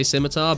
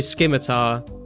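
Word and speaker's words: scimitar: people do man like if you if you see someone that's never played RuneScape they'll probably say simitar but a lot of you you say you hear someone say skimmar um chances are they're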